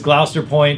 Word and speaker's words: Gloucester Point: the hardest parts was how to pronounce it but it is gloucester point virginia uh it's outside of